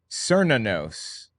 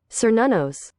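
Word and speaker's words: Cernunnos: It's Cernanos. How's it pronounced? Cernanos. Cernanos. Cernanos. That's how it's pronounced. Cernanos. Another interesting addition we have here is Kieranos. This is Sir Nanos, not Kieranos.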